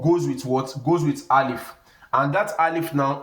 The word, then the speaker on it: alif: i al if so the English equivalent of alif is something like father when you say